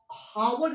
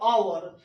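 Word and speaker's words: hour: देखिए यहाँ पे वो हावर इसको नहीं बोलते, इसको नॉट से हावर, इट्स ओनली से आवर।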